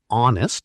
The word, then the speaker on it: honest: An honest person, because honest sounds like it starts with O.